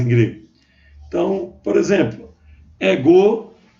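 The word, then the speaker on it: ἐγώ: Então, por exemplo, ego, não é ego, é ego, ok? Lembrando que o espírito está aqui antes do epsilon maiúsculo e não é pronunciado, ok, gente? Porque é o espírito brando.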